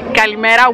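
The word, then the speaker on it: καλημέρα: Kalimera with Greek.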